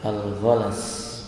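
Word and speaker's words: الغلس: Kemudian al-ghalas, cara membacanya dari kalimat ghain, lam dan sin. Cara bacanya bi fathil ghain, ghainnya di fathah, al-mu'jamah wal lam, al-ghalas, lamnya juga di fathah.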